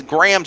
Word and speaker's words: Graham: It is Graham Smith, like Graham spelled for graham cracker in the United States.